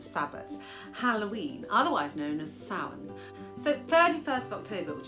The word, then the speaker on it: Samhain: So according to the Irish language pronunciation website, Samhain is how this word is pronounced.